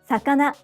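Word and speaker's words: さかな: Sakana, fish. Sakana, sakana. Each syllable is pronounced with either a high or low pitch.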